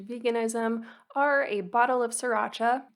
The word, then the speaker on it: sriracha: are a bottle of sriracha the first r is silent i am still working on that it's not sriracha and a seitan burger